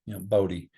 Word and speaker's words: Bodie: And I named him Bodie because I wanted readers, even in the North, when they say his name, to have just a slight southern drawl to it, Bodhi.